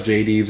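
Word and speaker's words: Jaydes: But I'm going to be referring to her as Jades because I believe she's supposed to be based off the Greek god of the underworld, Hades. So that's the pronunciation I'm going to be going with.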